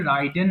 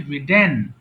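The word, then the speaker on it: ridden: সো রাইড road রিডেন এটা অনেকে ভুল করে রাইডেন বলে আমার উচ্চারণ গুলো ভালো করে শুনবা রাইডেন হবে না বাংলায় লিখে দিয়েছি রিডেন রিং মানে ঘন্টা বাজানো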